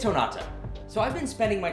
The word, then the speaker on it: Jonata: How do you pronounce this? Honata. Yeah, it's Honata. So I've been spending my time working on the video edit, and the entire time we keep saying it wrong. So it's Honata.